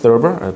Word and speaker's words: Thurber: 영어로는 Thurber 이렇게 제임스 Thurber 발음이 TH 발음이라서 조금 쉽진 않습니다. 그냥 사실 서버 그러면 안 되죠. Thurber 터버와 서버의 중간 발음 정도 됩니다.